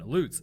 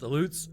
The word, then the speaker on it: Aleuts: During the town's first push to develop, they would be settled by Russian Aleuts. And I'm pretty sure it's pronounced Aleuts because of the Aleutian Islands.